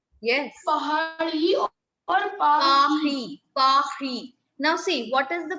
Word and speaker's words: Paris: R is pronounced as R. R. A little coughing sound from the throat, like we take out a cough, isn't it? So R in French is pronounced in the similar way. We call it Pahi.